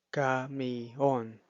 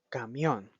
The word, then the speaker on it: camión: No se pronuncia camión. En su lugar, se pronuncia camión, uniendo la letra I y la letra O, ya que son una vocal abierta y una vocal cerrada.